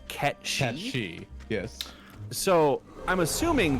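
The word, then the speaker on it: Cait Sith: The only Kate, C-A-I-T, with which I am familiar is Kate Sith, and as annoying, pretentious Final Fantasy fanboys, not me, will tell you, that's actually pronounced Ket-Shi.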